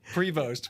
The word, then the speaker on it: Prevost: say it again so we have it right Prevost pre he just told me too pre you know what however you pronounce it if you got uh you've been